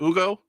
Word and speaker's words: Hugo: You don't pronounce the H and you don't say Hugo, right? Is it Ugo?